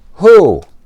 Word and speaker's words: who: And remember, the only time wh sounds like an H is these two words. Who hole?